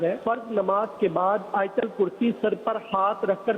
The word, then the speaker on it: آیت الکرسی: یہ آیت الکرسی عوام بولتے ہیں، صحیح تلفظ ہے آیت الکرسی.